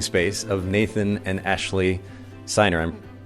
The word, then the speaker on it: Siner: dining room living space of Nathan and Ashley signer i'm pronouncing your name correct yes all right thank